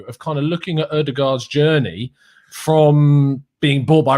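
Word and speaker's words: Ødegaard: Chelsea and beyond, but Martin Odegaard, the D is silent, I've been assured.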